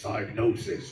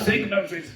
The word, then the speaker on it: Psygnosis: I have a memory of Blood Money and it's really annoying cuz it starts up and goes diagnosis prevents and that's not how you pronounce it. Signosis.